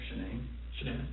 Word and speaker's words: Shanann: And I don't want to pronounce her name wrong. Shanann. Shanann?